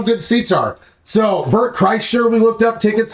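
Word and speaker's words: Bert Kreischer: tis it depends how good seats are so Bert Cher we looked up tickets like like you better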